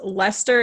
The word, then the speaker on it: Leicester: was interested in and for for americans lester is spelled lyacaster oh yeah i can't